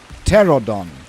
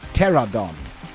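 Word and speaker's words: Pteranodon: The P is silent.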